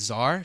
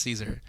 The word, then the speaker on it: Czar: and I was seconding her like oh it's Zar she was like oh like Tony Zar and